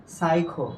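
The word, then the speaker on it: psycho: এর উচ্চারণ হবে না তাহলে আমি যদি পি এর উচ্চারণ না হয় তাহলে এখানে দেখো এটার উচ্চারণ কি বলতো সাইখো কি সাইখো এরপরে এইটা দেখো এটা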